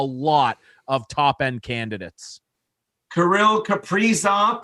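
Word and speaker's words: Kirill Kaprizov: of top end candidates karil caprizzo that's how he wants his name pronounced wow okay off the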